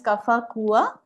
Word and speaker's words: Kaffa Kuwvva: Just to begin, our company's name is Kaffa Kuwvva. That's the right pronunciation for the word that we have coined for the name of the company.